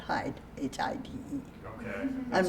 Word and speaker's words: Hyde: Hyde, Hyde, not Hyde, Hide.